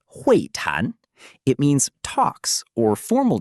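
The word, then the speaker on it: 会谈: Next, we have huìtán, pronounced huìtán.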